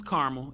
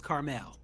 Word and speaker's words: Carmel: country club that's right so east coast is caramel if we're in west coast it's carmel all right well i'm